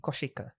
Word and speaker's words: Koshika: 29A of my life, I have been pronouncing my name wrong. Oh. So my name is not Koshika, it's Koshika. Koshika. Yeah. So it's not Kosh, it's Kosh.